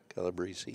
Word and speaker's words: Calabrese: Well, how's it pronounced? Is it Calabrese? Calabrese? Calabrese.